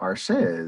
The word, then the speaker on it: Arshea: Okay, I'm really, really bad at this pronunciation, but I think it's Arshea, Arshea, Arshea. Arshea, that sounds about right. Yeah, and so Arshea is pretty cool. Arshea? According to the official Pathfinder wiki, it is Arshea.